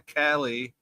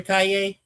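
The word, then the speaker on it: Calle: Oh, by the way, he also says, uh, Sasha Cali, I think that's how you say it, over Millie Elco. Oh, you mean Sasha Cay? Yeah. K. Cay. Cayey like a street.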